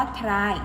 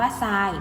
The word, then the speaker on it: ทราย: ซาย อาทร อา ยอ แต่ เรา ไม่ อ่าน ว่า ชราย นะ คะ เรา อ่าน ว่า ทราย เพราะ ว่า คำ อ่ะ พวก ไม่ แพ้ เนี่ย ทร จะ ออก เสียง เป็น ส่อ โซ่ นะ คะ คำ ต่อ